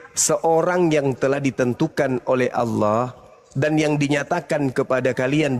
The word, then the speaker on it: Allah: berbahasa Indonesia yang benar di mana ada kata Allahu Coba baca di baik itu ada a l l a itu ada I itu bacanya apa Allah karena karena ini berasal dari